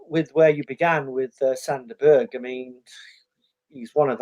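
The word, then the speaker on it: Sander Berge: Is that how you pronounce it? Yes, Sander Berg.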